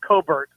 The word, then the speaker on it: Colbert: Well, the last thing I'll say is, I guess you saw where, and I think his true pronunciation is Colbert, but Stephen Colbert got the axe because they're losing, tens of millions of dollars.